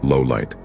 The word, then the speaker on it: Lawliet: L's surname, Lawliet, is pronounced Lowlight.